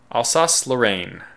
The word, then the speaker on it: Alsace-Lorraine: Alsace-Lorraine. Good, I was pronouncing it more or less correct.